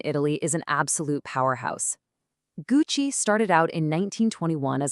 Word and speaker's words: Gucci: The classic mistake here is saying Gucci, but remember that rule we just learned? The G is hard, so it's gu, and the CI part sounds like chi. So you just put them together and you get Gucci.